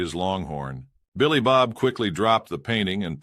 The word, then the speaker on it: Billy Bob: "It's pronounced Billy Bob," the trucker said.